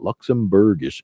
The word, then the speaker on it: Luxembourgish: even a remote bilingual Luxembourgish Luxembourgish is how you say that Luxembourgish interpreter it's just a